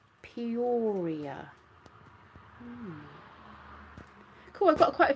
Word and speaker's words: Peoria: How's that pronounced? Peoria.